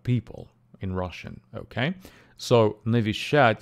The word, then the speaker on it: Навещать: in Russian okay so nishad has three syllables sh and the stress falls on the last syllable shat okay uh listen